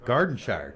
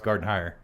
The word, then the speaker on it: Gardenhire: other than Justin Gardy1 Gardenshire. Did I say that right? It's Gardenhire. I never say his name right.